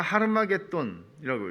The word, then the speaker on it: 하르마겟돈: 요한계시록은 히브리어로 아마겟돈, 그러니까 하르마겟돈이라고 읽어요.